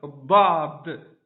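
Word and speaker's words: ض: Donc do, vraiment c'est une prononciation avec la langue qui va s'étaler sur les bords des dents. C'est comme si on appuyait sur le bord des dents de l'intérieur.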